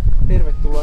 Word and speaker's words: tervetuloa: Tervetuloa Soentulaan.